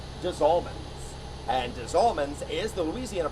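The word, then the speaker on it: Des Allemands: the German Coast little town called dman and Desman is the Louisiana pronunciation of diaman the French term for of the Germans there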